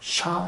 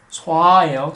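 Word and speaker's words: صَ: 그래서 샤 이러면 틀리는 거예요. 쏴예요. 쏴, 쏴.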